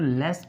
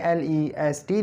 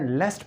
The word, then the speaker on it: lest: नहीं है इनको आपने लेफ्टी लिखना है और उनकी जो कंडीशन है वह आपने लेफ्ट पढ़ने लिस्ट नहीं पढ़ना याद रखें यह लिस्ट नहीं है लेफ्ट पढ़ना है और स्पेलिंग उसके लेफ्टी